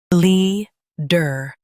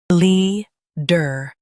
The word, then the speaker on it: leader: Leader. Now read the syllables shown on the screen naturally. Lee. Der. Leader. Stress Lee and keep der light.